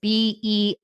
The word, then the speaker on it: Bearer: it's spelled out it's b-e-a-r-e-r so like a bear in the woods the cup Bearer not beer bear bear Bearer Bearer Brooke thank you so